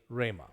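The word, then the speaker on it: ῥῆμα: carry the rough breathing the rough breathing sound will not be pronounced with the r so rama rama there will there will not be a just simply rhema finally with regards to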